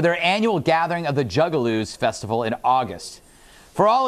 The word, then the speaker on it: Juggalo: For all of you normal people out there, a Juggaloo is the name given to fans, groupies, and general weirdos that love these rapping clowns. Am I mispronouncing it? Yeah. Juggalos? Juggalo.